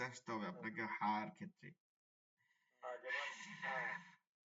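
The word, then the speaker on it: حَ: হ্যাঁ, শব্দ হবে, বাতাসের মতো শব্দ হবে। হ্যাঁ, বাতাসের মতো শব্দ আসবে না, বাতাসও আসবে সাথে।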